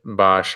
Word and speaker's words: Bosch: Bosch? Bosch in the US.